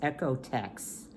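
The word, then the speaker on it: OEKO-TEX: the company is echo i don't know that's the way you pronounce it o e k o dash t e x echo text confidence and textiles standard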